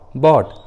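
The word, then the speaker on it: bought: के बाद आते हैं तो जी और एच साइलेंट होता है, जी एच का उच्चारण नहीं करते। जैसे थॉट, बॉट, ड्रॉट, देखिए तीनों इंग्लिश वर्ड्स में जी और एच एक साथ है और तीनों ही वर्ड्स में जी और एच वॉवेल के बाद आए हैं, यू के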